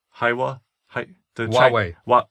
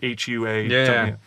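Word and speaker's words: Huawei: they did it with I always say it wrong Hawa thei is it huwei you don't pronounce the age I don't think so um the phones the chin the Chinese the Chinese manufacturer right it's like Hua um so they did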